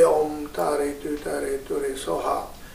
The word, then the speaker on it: Om: Now here, Om is one syllable constructed three letters together: A, U, and Ma. A, U, Ma, three. Put together, you say Om. Instead of saying slowly, A, U, Ma, say Om.